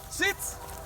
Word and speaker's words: Sitz: Sitz, S-I-T-Z. You're going to pronounce the Z with the down command and the sit command.